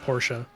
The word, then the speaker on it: Porsche: dad's my dad's a porsche guy or porsha if you want to be all fancy and pronounced that way my dad's a porsche